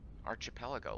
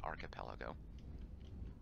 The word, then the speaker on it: archipelago: some kind of like arch appel ago like we had before and yes I know it's pronounced archipelago object nearby alright sorry